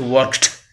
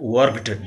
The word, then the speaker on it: worked: And it is pronounced as worked, not worked, duh. It's t. Ed is written, but t is pronounced worked.